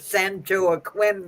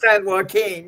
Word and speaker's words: San Joaquin: would come in and ask where the Sancho Aquin was located. No, what? For San what? How do you say it? San Joaquin?